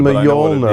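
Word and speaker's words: Mjölnir: Mjolnir.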